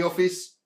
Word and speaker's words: office: Now here, the E is silent and it doesn't produce the magic E sound of I.